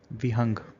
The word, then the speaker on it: बिहंग: अब ध्यान रखिएगा कि बिहंग मणि की जो प्रोनाउंसिएशन है, कहीं जगह वो वी से भी शुरू होता है, विहंग। तो इसमें कंफ्यूज मत हो जाएगा कि बिहंग अलग है और विहंग अलग है।